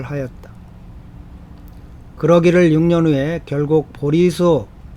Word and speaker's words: 보리수: 그러기를 6년 후에 결국 보리수, 이게 보제수라고 되어 있죠. 본래 중국 한자로는. 그런데 이게 그 한국 불가에서 이 발음이 좀 보제수라고 하는 발음이 별로 안 좋아서 우리 한국 불교에서는 보리수로 읽는다고 합니다.